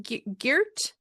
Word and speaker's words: Geert: It's pronounced Geert? Yeah, it's Geert. Geert.